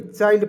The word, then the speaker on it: CHILD: उसके बाद यहाँ आप देखेंगे CHILD, तो दोस्तों इसे चिल्ड नहीं पढ़ेंगे, चाइल्ड पढ़ेंगे, क्योंकि CHILD इसका उच्चारण ही होता है चाइल्ड के रूप में, चाइल्ड, ठीक है, चाइल्ड, ठीक है।